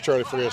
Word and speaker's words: Charlie Frias: It's a nice complex down here, Charlie Frias. Is that how you say it? Yeah, it is Charlie Frias.